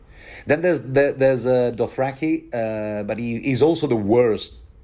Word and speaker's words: Dothraki: Then there's Dothraki, but he's also the worst kind of his own people.